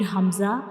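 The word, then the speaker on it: ء: And how we pronounce hamza? Like ha, we will read hamza, we pronounce hamza from the bottom of the throat.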